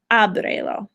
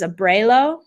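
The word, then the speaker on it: ábrelo: The second to last syllable in abre is the a, which is why I have to put an accent mark on abrelo. If that accent isn't there, this is abrelo, and that's a totally different word.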